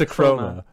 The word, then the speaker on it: Akroma: It's Acroma. The A is silent.